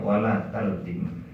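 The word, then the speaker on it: ولا تلطم: Kemudian terusnya wala tulatim, cuma dalam bacaan ya, para syarih dikatakan bacanya wala taltim, ya, wala taltim wajhaka waraksaka bil ma'i latma.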